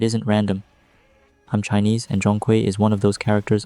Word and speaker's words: Zhong Kui: In Mandarin, it's pronounced roughly Zhong Kui.